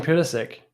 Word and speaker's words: Pulisic: Christian Pulisic.